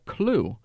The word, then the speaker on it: Clew: I would like to introduce you and do a walkthrough of an app called Clue and it's spelled Clw.